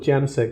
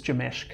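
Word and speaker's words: Jamsek: I always call it JAMSEC, but I've been told it's Jameshk.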